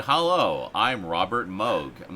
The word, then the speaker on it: Moog: I actually heard something by Robert Moog, the guy who invented it, mention Yeah. his own name. It's like, oh, it's Moog.